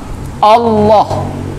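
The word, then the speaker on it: الله: Nama Allah itu dibaca tidak dengan cara mendekatkan bibir atas dengan bibir bawah. Kalau bisa pergerakan 2 bibir ditahan, jangan terlalu kuat. Jangan Allah. Hati-hati.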